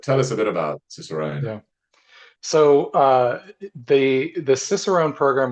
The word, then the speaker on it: Cicerone: I always pronounce this word wrong, Ciceronian, um, Cicerone.